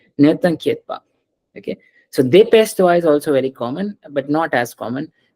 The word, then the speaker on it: dépêche-toi: Don't say dépêche-toi. Dépêche-toi. Whenever a word is ending with e, it's not a sound at the end. A, yeah, a sound is brought by this e.